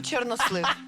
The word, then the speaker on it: чорнослив: Я беру чорнослив. Приймаю. Оля, ти програла. Даня, ти забираєш мотинку. Що захищало від мавок? Знай Степанович. З приводу Чорнослива. Запам'ятайте наголос. Чорнослив. Чорнослив.